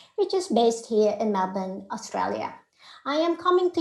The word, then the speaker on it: Melbourne: All right, so Melbourne is pronounced as Melbourne locally, is the capital of the state of Victoria.